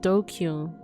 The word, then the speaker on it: DQN: Japanese net slang pronounced dokyun. Dokyun.